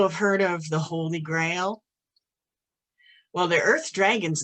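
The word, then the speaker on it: Grael: all earth elements is known as grail but it's spelt g r a e l but it's easy to remember because i always think the holy grail and the elemental color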